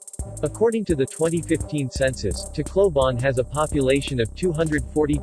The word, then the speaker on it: Tacloban: - clove on Tacloban Tagalog pronunciation T cloven or simply referred to as Tacloban City is a first-class highly urbanized city in